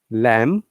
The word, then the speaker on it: lamb: have to pronounce b but if it is a singular word we don't have to pronounce b at all okay so once again lamb but lamps bomb but